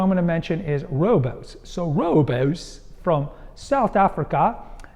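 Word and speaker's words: Rooibos: the third one I'm going to mention is Robos so Robos from South Africa is an African word we commonly mispronounce it and call rubos but it's like royos is a shrub that is renowned for lowering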